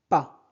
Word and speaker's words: pas: N'aime pas. Ne prononcez pas S. Pas.